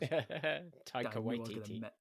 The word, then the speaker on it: Taika Waititi: I can't pronounce things. Taika Waititi.